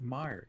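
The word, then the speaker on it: Meijer: new dune movie harsh i've never heard of meyer it's actually not spelled like that neo video it's m-e-i-j-e-r it's just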